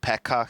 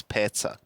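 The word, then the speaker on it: Petsa: choice can you please stop calling that guy Pekka he's not Pekka he's pizza I've been trying to tell him to try like p-e-t-s-a that's how you pronounce it there you go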